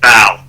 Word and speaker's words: Baal: It derives from the Jewish Jehovah or Yahweh, and the other two syllables come from pagan gods. One is considered Osiris, and the other is Baal or Baal.